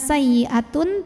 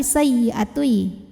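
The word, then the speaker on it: سيئة: Bukan sayyi'atun tapi sayyi'atui, masuk ke ya. Disertai dengung. Artinya tahan dulu di sini.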